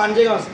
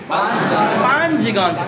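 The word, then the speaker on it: پنج گنج: এখানে কিতাব পড়ানো হয় পাঞ্জেগাঞ্জ, নামও যদি শুদ্ধ করে উস্তাদ করতে পারে না, ছাত্র করতে শুদ্ধ নাম পড়বে। এটা শুদ্ধ উচ্চারণ কি? পাঞ্জগাঞ্জ। পাঞ্জেগাঞ্জ নয়।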